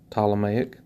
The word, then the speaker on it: Ptolemaic: the Egyptian Ptolemaic Kingdom spelled with a PT o L Ptolemaic and then in the